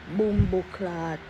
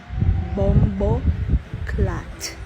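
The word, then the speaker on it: bomboclaat: people pronounce it like boom clot bomb clad listen you have to Say bumbo clat and you say it fast. You connect those two words together. Bumbo clat. Yeah. You don't say bomb clat.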